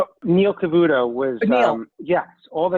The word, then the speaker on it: Cavuto: how do you say his last name neil cavuto was um yes all the networks were covering